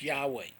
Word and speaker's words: Yahweh: hey final those are the those and it's pronounced yahweh jesus name in hebrew was hey final which